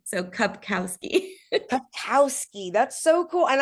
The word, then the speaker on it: Kupkowski: do you pronounce it it's like a cup with a k a cow with a K and then ski so cupkowski papowski that's so cool